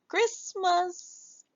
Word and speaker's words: Christmas: Then we hear a cr s Chris. And then the t silent.